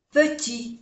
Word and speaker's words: petit: Il y a un petit, no se pronuncia la T, petit parc.